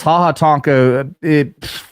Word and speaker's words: Ha Ha Tonka: Ha ha Tonka, whatever the fuck it means, but yeah, it is spelled like ha ha Tonka, exactly, Tonka truck.